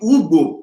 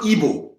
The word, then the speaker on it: Ugbo: It was the Ugbo people, because the king of Ilaje is Oluigbo. Their name is spelled U-G-B-O, Ugbo, not Igbo.